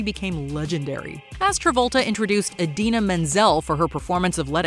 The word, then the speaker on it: Idina Menzel: John Travolta introduces Adele Dazeem. It's not that John Travolta simply mispronounced a name.